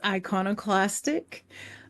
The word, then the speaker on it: iconoclastic: pulse magazine okay first of all am I pronouncing that right yes it's iconoclastic uh which is also a part where that